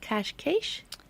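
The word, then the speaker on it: Cascais: told me it's pronounced cash cash that yeah si is SH yeah it's like ash cash estriol and that's where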